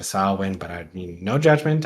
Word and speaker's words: Samhain: And then I appreciate the witchy people in the world who take it seriously and call it Samhain when it's actually should be pronounced something closer to Samhain.